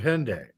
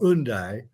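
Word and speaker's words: Hendaye: the cycling Cross of Hyundai or undai or whatever I just do it if I pronounce it in the English way because I don't want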